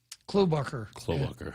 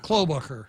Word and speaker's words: Klobuchar: How do you pronounce that name? Klobuchar. Klobuchar, yeah.